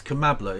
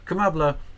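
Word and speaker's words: Kamala: is is bad um it's kambla it rhymes with cacaa it is anyway kambla um uh yeah and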